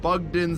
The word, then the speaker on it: Bugden: by typing in Ross Bugden Music. In Makes the sense. search function. That is Ross spelled R-O-S-S and Bugden spelled like a den full of bugs.